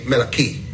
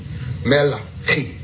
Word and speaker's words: Malachi: When you say it with the Hebraic tone, or the Hebrew tone, or Hebrew tone, you're saying Melachi. Melachi.